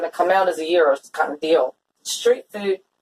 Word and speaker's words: gyros: but we're going to put it together, is Gyro. Do you know how to pronounce that? Gyro. No. Okay. Then I guess I don't. Gyros. Okay. It's not gyro. It's not gyro. It's gyros.